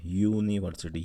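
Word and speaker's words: university: यूनिवर्सिटी य से शुरू है, इसीलिए हमने आगे से अ लगाया है।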